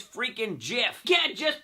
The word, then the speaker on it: GIF: It's a hard G. I don't know where people get the GIF part of it. IT'S FREAKING GIF.